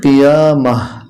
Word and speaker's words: কিয়ামাহ: যখন আমরা এখানে থেমে যাব, উচ্চারণটা হবে কিয়ামাহ।